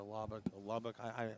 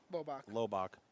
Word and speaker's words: Lobach: That's 48 for Parker Lubbock. I'm saying his name wrong. Lobach. Parker Lobach.